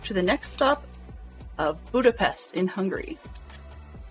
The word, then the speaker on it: Budapest: Says we're off to the next stop of Budapest in Hungary. I'm mispronouncing that for sure. I think it's closer to Budapest. SHT sort of pronunciation.